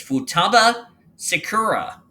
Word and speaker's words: Futaba Sakura: It's Futaba Sakura. Thank you for the correct pronunciation as I just dropped my phone.